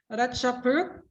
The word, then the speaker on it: ราชพฤกษ์: And number 2, I'm not sure how to pronounce this word, teacher Jeep, but it's Ratchapruk. ราชพฤกษ์ Oh, รา Ratchapruk.